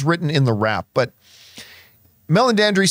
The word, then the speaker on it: Meledandri: Well, the head of Illumination, who was at CinemaCon, by the way, came out on stage, and I always mispronounce his name, but it's Meledandri is his last name.